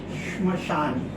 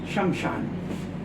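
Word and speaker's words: श्मशान: अब हमको जरा सा इसका उच्चारण करने में परेशानी होती थी। तो हमने तुरंत इसका उच्चारण बदल दिया। शमशान बचपन में मैं भी ये गलती करता था कई साल तक शब्द ब्राह्मण ब्राह्मण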